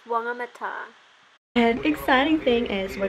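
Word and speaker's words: Whangamatā: It's WHANGAMATA.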